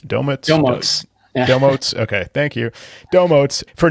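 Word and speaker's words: Domotz: How do you pronounce it? Domots? Domots. Domotes.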